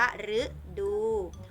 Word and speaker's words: ฤดู: คะ เห็น ไหม คะ อ่าน ว่า ฤดู หัว เข้า ข้าง ใน